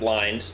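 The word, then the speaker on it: Lynde: social media just type in ly nde it's pronounced lined just so you know noah i got it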